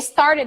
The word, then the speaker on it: started: an actress uh-huh they started it they started it exactly so start it started it both sounds have to be very clearly pronounced yeah now I'm gonna